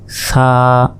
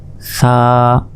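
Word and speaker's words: ث: করে এক আলিফ টান সা জিহবা আগেই বের করতে হবে এরপর উচ্চারণ করতে হবে সা জিহবার আগা সামনের ওপরের দুই দাঁতের আগার সঙ্গে লাগিয়ে দিয়ে এই অক্ষরটি উচ্চারণ করতে হবে সা মনে রাখবেন অবশ্যই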